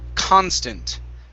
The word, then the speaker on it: constant: off with c-o-n but this word here the stress falls on the beginning that's why i say constant okay but this word